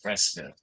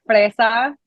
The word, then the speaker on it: fresa: You got the first single, Tequila Con Fresca. Correct me if my Yes, pronunciation is wrong. And it's okay. It's fresa.